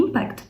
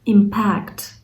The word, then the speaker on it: impact: в чому ж різниця оцей Impact перше і наголос До речі на першу частинку у нас означає саме як дія якась наслідок відбиток ну якихось подій вплив наприклад It has a Huge Impact in our History Тобто це має великий вплив наші історії інший варіант Impact тут у нас вже іде саме наголос на другу частинку Impact це вже саме